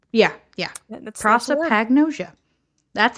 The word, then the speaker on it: prosopagnosia: how to actually say that word hang on proa Pagosa Pro agnosia yeah proa Pagosa H yeah yeah that's prosopagnosia that's how to say the face blindness thing